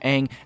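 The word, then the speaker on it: Aang: which of course was the correct and right pronunciation of the name Ang as the person commentating says that the world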